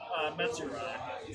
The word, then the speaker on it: Metsurai: Metsurai. Say again? METSU. I'm happy I met you so I don't mess that up later.